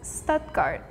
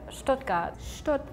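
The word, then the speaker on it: Stuttgart: I would think of it as Stoutgart, but it can't be right. That double T is weird. It might be Stout also instead. So in Germany we say Stogat.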